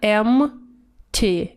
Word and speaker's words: empty: м т это пустой читается эмма те видите буква п может выпасть м3 your valid вот